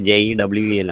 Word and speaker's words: jewel: അതുപോലെ precious ആയിട്ടുള്ളതെല്ലാം ജ്വല്ലാണ് okay Uh, ഇറ്റ് is pronounced as ജ്വൽ ആ പ്രൊനൗൺസിയേഷനാണ് ഇതായിട്ട് എഴുതിയിട്ടുള്ളത് ബട്ട് ഇറ്റ് is written actual ജ്വലിൻ്റെ സ്പെല്ലിങ്ങിൽ JEWEL ആണ് ബട്ട് ഇറ്റ് is pronounced as ജ്വൽ okay അതാണ് jewel.